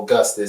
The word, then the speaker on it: Gustice: My name Gustice, right? That's why it's spelled like justice.